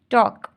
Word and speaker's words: talk: अब इसमें B silent है, थंब नहीं बोलते, हम इसको थंब कहते हैं, तो यहाँ पर बी साइलेंट है, थंब। टॉक, टॉक, इसमें TALK, टॉक, इसमें एल साइलेंट है, ठीक है, यहाँ पर क्या साइलेंट है, एल।